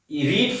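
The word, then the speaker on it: read: third form क्या है रीड first form है और रीड की थर्ड फॉर्म हो जाएगी रेड स्पेलिंग वही रहती है प्रोनंसिएशन में चेंज होता है अब इसके बाद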